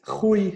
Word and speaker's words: Rui: Both of them are right. Rui is how we pronounce it.